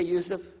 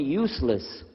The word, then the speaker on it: Yusuf: My name is Yusuf. Can you say Yusuf? You say Yusuf. You're very good. I wish you'd teach my wife. She keeps mispronouncing it. She calls me useless.